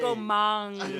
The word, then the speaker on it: Komang: it's a long A. Komang. Because if you say That's komeng, Komang. you say always uhuy.